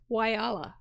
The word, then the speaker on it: Whyalla: It looks gorgeous, and how to pronounce that name, and it's Whyalla.